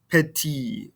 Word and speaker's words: petit: nipati so again uh notice how we're not pronouncing these ending consonants uh in french kron petit i don't hear this